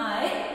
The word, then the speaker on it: eye: तो इसको प्रोनाउंस कर रहे हैं हम आई, और कैसे लिखेंगे, E Y E.